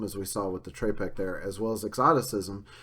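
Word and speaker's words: trepak: Russian dance called the trepek, which actually is pronounced a little differently in Russian. Apparently it's pronounced somewhere like tropek or something like that, but it's often spelled T-R-E-P-A-K.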